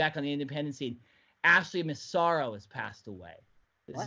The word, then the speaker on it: Massaro: Massaro.